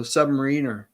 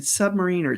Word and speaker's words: Submariner: I said Submariner. It's Submariner. As a kid, I would always call it the Submariner, and it's really been a hard thing to kind of shake, is those mispronunciations that one does as a child.